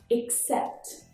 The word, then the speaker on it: except: These words are very, very similar, but there is a tiny, tiny difference in pronunciation in the first vowel sound. In accept, it's the lazy schwa sound, accept. For accept, it's accept.